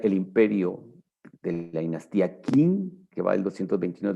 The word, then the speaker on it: Qin: En español, Qin, como les expliqué la semana pasada, se pronuncia Qin.